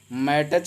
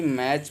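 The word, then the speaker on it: match: मैटच नहीं पढ़ते हैं बल्कि मैच पढ़ेंगे, टी को नहीं पढ़ेंगे।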